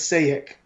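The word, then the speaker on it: Šejić: it it uh say sajek yeah go to his twitter he has it uh so you can pronounce it oh cool it's quite funny yeah no no j the j stop so it's sayic see it sagic oh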